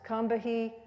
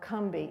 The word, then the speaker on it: Combahee: I've heard it pronounced Combahee or Cumbie. Either way is what I understand is okay.